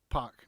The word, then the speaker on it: PAC: to pronounce this correctly because it's pack but dave mulman you're wrong in this he has never been called poc it's always been called pac this is a rant